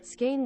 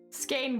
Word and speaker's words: skein: in a ball, but I don't know how to pronounce it, so. Skein wool. Skein wool, apparently.